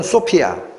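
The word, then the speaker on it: σοφία: 성부 하나님이 천지를 만드실 때 성자 하나님, 지혜, 이 히브리어로 호크마라고 읽히는 겁니다. 호크마. 헬라어로는 소피아.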